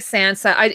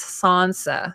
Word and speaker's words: Sansa: one of the showrunners he says Sansa Sansa which sounds really pretentious yeah I still my favorite pronunciation of it is a the way that Littlefinger used to say it lady Sansa he should have been